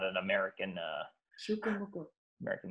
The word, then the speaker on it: Pukumuku: I was like, Pukumuku? She was like, no, Pukumuku. It's not like mucus. It's like Pukumuku. It's something Hawaiian-ish.